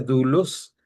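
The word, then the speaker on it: δοῦλος: Doulus es como se pronuncia, dulus. Así las dos diptongos se hacen una sola vocal.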